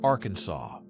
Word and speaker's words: Arkansas: It must be pronounced with a silent ending, like Arkansas.